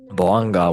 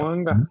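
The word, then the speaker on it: Bouanga: Can someone please pronounce this? I keep Boanga with 33 goals for LAFC. Thank you, Paulinho. Boanga, yeah.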